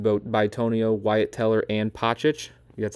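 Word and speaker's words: Pocic: their linemen in both Bonio, Wyatt Teller, and Pochic, that's how you say it, are all free agents.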